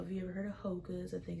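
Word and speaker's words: Hoka: Um I particular brand that I like is the Hocas. Um I don't know if you ever heard of Hocas. I think it's spelled H O K A S.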